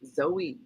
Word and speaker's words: Zoe: Pronounced Zoe, Z-O-E.